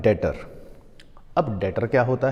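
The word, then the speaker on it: debtor: अब इसी तरह इन्हीं का एक टर्म होता है डेटर। अब डेटर क्या होता है? इसमें लिखते समय हम लिखते हैं डेबिटर लेकिन बी साइलेंट होता है बोलने के टाइम पर। ये बात यहां पर हमने लिखी थी।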